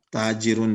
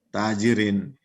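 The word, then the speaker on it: تاجرٌ: berharakat lagi, sudah paham, oh ini tajirun dibaca, bukan tajirin.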